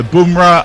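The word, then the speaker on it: Bumrah: not punjab punjab and bamra never pronounced like bum always boom so boomra and punjab okay punjab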